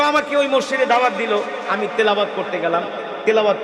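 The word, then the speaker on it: دال: আমরা বলি দাল। ওরা বলে ডাল। এক মাদ্রাসায় পড়াইতে গেছি বলি দাল। কয় ডাল উচ্চারণ করতে পারে না।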